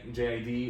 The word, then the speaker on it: JID: They have a lot of artists that I like JID or Jid, however you want to pronounce it.